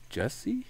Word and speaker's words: Jussie: was away for the is it Jussie or Juicy or is it Jesse? Jesse Smollett. Well, thing? it's spelled weird. It's like JUSSIE, yeah. but it's like Jesse. It's Juicy. It's spelled really weird.